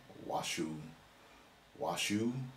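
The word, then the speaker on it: Washoe: Reno according to a news release from us washu washu County Sheriff's Office someone help me with that pronunciation which has previously said the Academy Award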